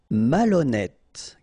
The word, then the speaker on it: malhonnête: Malhonnête. Okay, remember, H doesn't exist, so malhonnête. Don't insist on the final E. Malhonnête. And here you get E accent circonflexe, so you pronounce it like E.